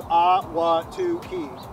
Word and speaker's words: Ahwatukee: my first time, and I didn't even know how to pronounce it until today, and it's Ahwatukee, right?